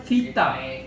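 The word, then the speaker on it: βήτα: Ini bacanya vita. Alfa bukan beta ya, bacanya vita.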